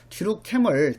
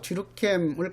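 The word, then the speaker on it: Durkheim: 그래서 뒤룩캠을 뒤룩갱이라고 발음하기도 하기 때문에 갱한테는 범죄는 지극히 필요하고 정상적인 현상이다.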